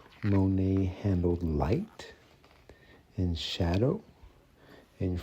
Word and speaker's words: Monet: So without further ado, let's go ahead and check out this book Monae. That is pronounced Monae. Uh not Monet, Monet or anything like that. It's Monae.